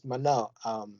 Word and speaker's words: Moné: Now that's Mercedes Moné. Mercedes Moné, not Moné. I can't pronouncing shit wrong today, y'all.